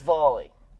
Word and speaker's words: Valli: That's not Valley? No, apparently it is Valley. Valley does sound like more Chinese. Did wonder about that, yeah. Precisely, it doesn't actually have a Chinese name. So, Valley is its Chinese name.